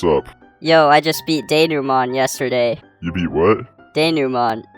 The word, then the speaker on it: denouement: Uh okay, so it turns out that this word comes from French, which has some interesting pronunciations, to say the least.